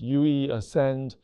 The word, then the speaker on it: Yue Ascend: It's pronounced Yue Ascend, a reference to Huawei's Ascend chips.